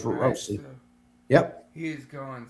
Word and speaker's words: Roissy: I think it's spelled it Roissy. I think that's how they spelled it. But it's Roissy.